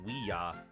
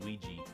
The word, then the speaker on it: Ouija: uh the name for Ouija was made by combining we and yah from it's just two different ways to say it's just two different ways to say yes so really it should be just pronounced we are but I don't know why it's not they just decided that it should be pronounced Ouija board that's